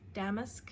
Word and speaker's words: damask: Someone corrected me, or not corrected, I've been asking what is the correct way to say damask roses, and so I've finally had a few people reach out and go, it's damask.